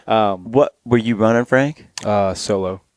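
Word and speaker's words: Soulo: Solo. Is that how you say it? Solo? I think it's Sulo.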